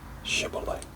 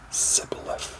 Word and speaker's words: shibboleth: i'm not they would tell him to say shibboleth if he was from ephraim he would say sybil f because people from iran cannot pronounce the word correctly then they would take